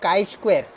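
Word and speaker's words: chi square: तो इसको बोलते काई स्क्वायर। और लेकिन इसका काई स्क्वायर है तो इसका स्पेलिंग है CHI, काई स्क्वायर, बराबर है।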